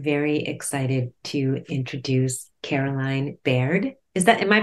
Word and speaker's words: Baird: today I am very excited to introduce Caroline Baird is that am I pronouncing your last name correctly you are correct